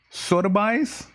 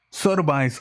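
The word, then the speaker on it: Sotheby's: daggo uh man that sucks how do you pronounce this soda buys s-o-t-h-e-b-y soda buys auction house to auction 104 crypto punks nfts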